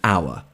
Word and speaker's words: hour: it with an because the H is silent when we pronounce it we say an hour not an hour therefore